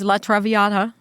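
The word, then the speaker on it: La traviata: beginning of the show was it's Ver's Latraviata Latraviata.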